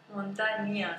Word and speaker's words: muntanya: Presenta montaña, digo montaña. Muntanya, com si fos una E.